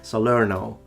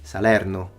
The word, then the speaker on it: Salerno: it's not he says salerno which sounds very american we say salerno he says ancio we